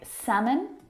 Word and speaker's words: salmon: Words like salmon, not salmon. Half, not half. Would, talk, walk. All of these words have a silent L in them, which makes them a little bit tricky to pronounce correctly.